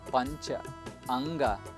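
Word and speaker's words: Panchanga: as punch anchor namaskara it is pronounced as puncher unga a punch means five hunga means of course we said earlier the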